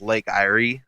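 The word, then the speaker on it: Lake Eyre: so that might be I think it's pronounced Lake Irie so that would be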